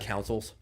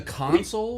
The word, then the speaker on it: console: pet peeves, by the way, is when people mispronounce boat parts. Like like councils. You gota you gota You got to get under the council. Oh. Oh, the You mean the console?